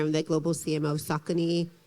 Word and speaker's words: Saucony: I'm the global CMO of Saucony. Some of you may pronounce it Saucony, same company, same shoe.